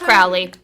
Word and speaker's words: Crowley: So Emery found the poem and sent it to us, demonstrating that Crowley pronounced his own name in a way that rhymes with holy.